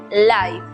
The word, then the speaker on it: life: tiempo es saber que la E al final de las palabras es muda, como ocurre en la palabra vida, que se pronuncia life, o en la palabra denso, que se pronuncia dense.